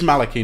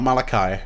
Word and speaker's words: Maliki: um and it is maliki not malachi these very i have been taught that the pronunciation of his name specifically is maliki and not malachi maliki maliki has a